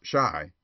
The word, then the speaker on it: Chi: boy and printer Bo Chi pronounced Shai by the way is the argot for Chicago a favorite device of